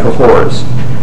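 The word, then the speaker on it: Cahors: Comedy and he says both Sodom and cohor cahor is spelled c a h o RS both Sodom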